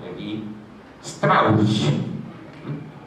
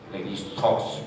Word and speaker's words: Lévi-Strauss: parentesco, del profesor Claude Lévi-Strauss. No Lévi-Strauss, como dicen los franceses, que son incapaces de pronunciar una lengua que no sea la propia. Es un adjetivo alemán, de origen alemán, ¿cierto?